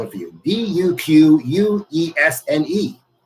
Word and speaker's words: Duquesne: They lived in a small town in Pennsylvania called, I have to spell it for you, Duquesne. Duquesne.